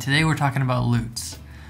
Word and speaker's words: Lutz: the screen all right today we're talking about loots loots maybe you've heard it pronounced lutz some people often call me and pronounce it luts so i know it's one of those that's